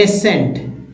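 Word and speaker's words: ascent: जर्स seizures फिर देखिए एसेंट एसेंट एसेंट साइंटिस्ट साइंटिस्ट तो ये जो है एस के तुरंत बाद अगर सी आए तो सी साइलेंट होंगे कुछ एग्जांपल था अगला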